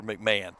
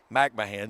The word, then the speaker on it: McMahan: going with with McMahon I see your pronunciation saying McMahan so um again I apologies for saying it incorrectly but that's the reason